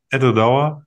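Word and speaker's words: Edradour: Wie wird es eigentlich richtig ausgesprochen? Etwa Dauer. Ettore Douwer, sehr gut.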